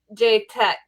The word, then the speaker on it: Chetak: Let's see if I can butcher the name again. Chetak.